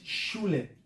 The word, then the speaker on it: shule: In Kiswahili, we call it shule. Shula. Shule, this is a German word, and they pronounce it the same, have the same meaning.